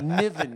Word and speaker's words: Niven: Niven, you said it right. All right. You wouldn't believe how many people they don't know me. They're coming to the stage. El Niven. You know? Naveen.